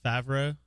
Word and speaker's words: Favreau: Were you thinking of John Favreau?